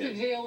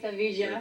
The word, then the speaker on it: Sevilla: And we say Seville and they say Sevilla.